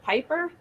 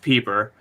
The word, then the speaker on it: Pieper: as what was it piper uh yeah it's well it's pronounced peeper it's p-i-e-p-e-r how the [ __